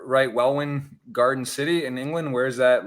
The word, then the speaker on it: Welwyn Garden City: that like yeah well in or where well well in garden city yes like 25 miles north of the center